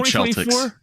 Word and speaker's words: Celtics: I love the Celtics. 2024, I'm making a change, George. And I'm starting a movement. We're going to start pronouncing it the right way. It's the Boston Celtics.